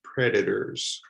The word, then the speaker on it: predators: But here it's in the middle of the word, so that is pronounced predators, predators.